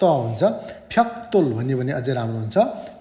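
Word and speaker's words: 벽돌: हामी जेनरली फ्याक्दोल भन्छौँ, तर ग लगत्तै माथि द आयो भने त हुन्छ, फ्याक्तोल उच्चारण गरियो भने बेटर हुन्छ है त।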